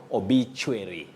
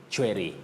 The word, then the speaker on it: obituary: like the American English, you may hear of obituary. obituary, but we say obituary, and that is in British English or RP, that is received pronunciation.